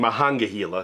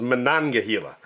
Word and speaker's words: Monongahela: I've been saying Mahangahela because that's what I thought it was, but this is Monongahela.